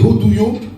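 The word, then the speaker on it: עֵדוֹת: On a dit que les préceptes, en fait, en hébreu, ça se dit des hodouyo ou Heda au singulier. Hodouyo, ça s'écrit E-D-O-U-Y-O-T. Et au singulier, E-D-A-H.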